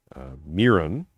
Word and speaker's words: Mironchuck: Miron, as it's spelled, Miron, is pronounced mir, like one of the things they gave Jesus, myrrh, frankincense, gold, frankincense, and myrrh. Right, so mir, Mironchuck. Say it along with me.